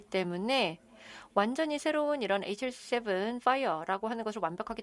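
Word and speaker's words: FHIR: 그래서 지금 파이어라 블루는 여기 철자는 fh IR이지만 그냥 파이라고 이제 발음을 합니다 그래서 지금 이렇게 조금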